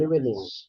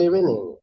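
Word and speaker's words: evening: morning good afternoon good ইভিনিং হাউ আর you fine এটা আবার বলুন তো এটা ইভনিং আবার গুড ইভিনিং ইভিনিং বলা যাবে না ইভনিংটা উচ্চারণ হবে না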